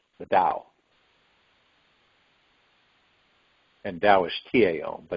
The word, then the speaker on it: Tao: And Tao is T-A-O, but it's pronounced Tao.